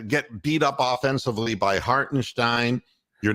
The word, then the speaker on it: Hartenstein: No, it's Hartenstein. That's the way they like to pronounce it. The Germans.